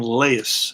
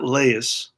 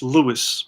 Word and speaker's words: Leius: home and Scott will I believe you pronounce his name Laius Scott Laius I don't believe it's Louis but it could be